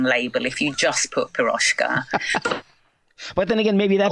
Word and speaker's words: Piroshka: if you just put Piroshka. But then again, maybe that would be cool too. The thing is ours is spelt slightly differently because the S in Hungarian is on its own just sh.